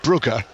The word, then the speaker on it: Brugge: the various pronunciations and at the end he said to me and of course it's Club buer yeah to which I